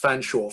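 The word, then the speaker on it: Featherstonhaugh: a member of the fanshawe spelt featherstone hall pronounced fanshawe family a claim which would eventually land henry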